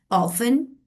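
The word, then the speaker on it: often: तो letter F और एस जब स्टार्टिंग में आ जाएगा like in the word ऑफन।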